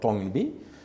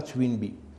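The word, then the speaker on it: Toynbee: jouet en anglais toy c'est pas Twin Twin c'est les Gémeau twin c'est TW i n et c'est pas Arnold twinby c'est Arnold tby parce que des fois les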